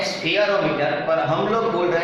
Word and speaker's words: spherometer: ये जो word spelling है SPHEROMETER स्फीयरोमीटर, उसको हम स्फीयरोमीटर बोलते तो नहीं है, हम बोल रहे हैं उसे स्फेरोमीटर, पर एक्चुअली ये स्फीयरोमीटर है।